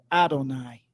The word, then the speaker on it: Adonai: that the talmood expresses not as I am written am I pronounced I am written yod V I am pronounced Olive nun yod or Adonai so they started to